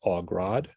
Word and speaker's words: Hauts Grades: It's Hauts Grades. It is French, much like the Scottish Rite.